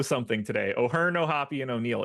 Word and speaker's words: O'Hoppe: Ryan O'Hearn, Logan O'Hoppe, Tyler O'Neill. They are the three votes for chat today. Can I say how much it bothers me that it's not just pronounced O'Hop?